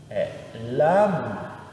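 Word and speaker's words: לם: Então, o logo aqui vai ficar lam, né? Lam. Lam é a pronúncia aqui, né? Eu tenho L, um A e um mem. Lam.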